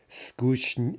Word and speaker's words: скучнее: Скучный, two syllables, so more boring would be скучнее, скучнее.